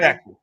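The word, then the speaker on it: Sachse: Saxy. Yeah, Saxy. Saxy? That's how it's pronounced.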